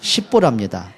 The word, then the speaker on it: 십보라: 오늘 보면은 그 아내의 이름이 좀 발음을 좀 잘 하셔야 돼요. 좀 부드럽게 하지 않으면 강하게 하면 욕이 됩니다. 십보랍니다.